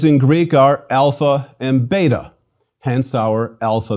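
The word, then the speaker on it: ἄλφα: our own letter a it is always pronounced when long like the a in father or when short more like ah it is never ever pronounced like the a in cake or the a in cat please repeat alpha ah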